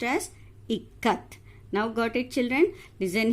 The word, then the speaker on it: Ikat: So totally it is pronounced as Ikat. Now got it, children? Listen here. I, you have to take the word in it. K-A, you have to take the word in Kamala.